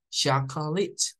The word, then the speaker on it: chocolate: del otro lado tenemos la palabra chocolate que se escribe igual en inglés y en español pero la pronunciación cambia en este caso la pronunciación en inglés es chocol it chocol it bien en este caso hay variantes para esa última algunos a veces no pronuncian la k otros Sí esta es como la pronunciación más común chocolit chocolit bien les invitamos a